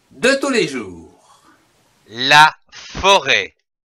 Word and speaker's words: forêt: La forêt. F-O, faux. R-E, accent circonflexe, T, ré. Forêt.